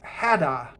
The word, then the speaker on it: Hatter: and then the the hatter is known as hadda so i think this is a pun on